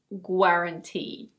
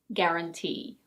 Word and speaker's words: guarantee: It's not "gwar-an-tee". We don't pronounce the U. It's: guarantee.